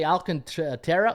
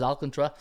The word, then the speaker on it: Alcantara: he pronounces his name you can say alcanta terra or alcantra but everybody says alcantra so obviously i'm gonna say that 10 and four on